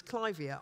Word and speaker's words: clivia: lot of Americans have told me absolutely firmly that it's clivia I've always said clivia but anyway um don't